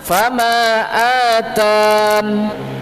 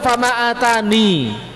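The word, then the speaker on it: فَمَا آتَانِ: Bagaimana? Fama atan. Ya-nya dihilangkan. Tidak dibaca fama atani. Tapi apa? Ya-nya dihilangkan ketika berhenti. Fama atan. Kalau sambung fama atani Allahu.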